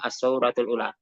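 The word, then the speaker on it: السورة الأولى: Jadi bacanya as-sauratul ula. Dan saya juga bisa mengartikan ini adalah apa isim dan kemudian ada sifat mausuf ya.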